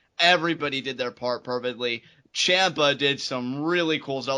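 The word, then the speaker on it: Ciampa: yes ladies and gentlemen that is how you pronounce it Gargano and Champa Nar Gargano and Champa it's actually hard for me to say uh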